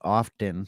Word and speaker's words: often: compar the Phoenix University online they accept the pronunciation often yeah without the T but also gives the